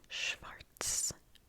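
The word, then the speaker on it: schwarz: in German is Schwartz Schwartz Schartz Schartz Schwartz so again we've got the W that is pronounced kind of like a V Schwartz Schwartz can you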